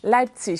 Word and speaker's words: Leipzig: Merci, et je crois qu'on dit Leipzig. Leipzig, tout à fait.